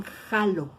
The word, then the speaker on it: halo: Entonces nosotros lo cambiamos jaló, pero en Sudamérica todavía la H la suenan como J y ponen halo, pero lo pronuncian jalo.